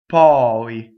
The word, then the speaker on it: poi: But poi is open O, poi.